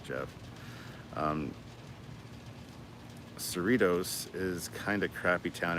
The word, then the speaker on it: Cerritos: to talk about I found out that the Sarah toast isn't called Sarah toast it's called cerritos like Doritos Cerritos so there you go